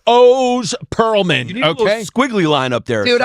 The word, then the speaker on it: Oz Pearlman: It's not pronounced the way it's it looks. No, it's O's Pearlman.